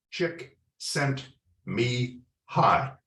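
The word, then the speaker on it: Csikszentmihalyi: laughed and he said four words in English chick sent me hot all right and I went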